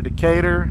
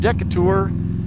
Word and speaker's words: Decatur: You can go to Decatur. It's not pronounced Decatur. Contrary to popular belief, it's Decatur.